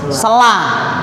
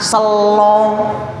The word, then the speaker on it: Sela: Bulan Sela. Tapi orang Jawa bacanya Selo. Bulan Selo.